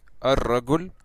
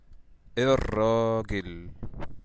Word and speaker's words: الراجل: So instead of saying ar-ragul, we're going to say it like that in the Egyptian accent. We're going to say ir-ragil, okay?